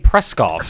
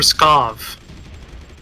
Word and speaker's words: Pskov: Chris cause pescado yes there's no R in networking pronouncing are you said you kept saying press cos it for Pskov mmhmm yeah you're saying